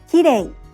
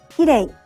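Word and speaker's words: きれい: English native speakers often pronounce it like the R sound in English and say kirei. You should lightly tap the roof of your mouth with the tongue, but don't roll it.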